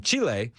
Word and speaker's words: Chile: Chile. Chile. Chile is how you pronounce it.